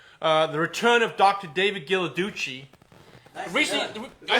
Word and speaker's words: Ghilarducci: yeah no it's not it's kind of like the chocolate only different you know we want